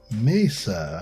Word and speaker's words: Mesa: few layers of this Messer Mesa mayor Masa Mesa Mesa I believe Mesa would be the correct pronunciation of that phrase um and what I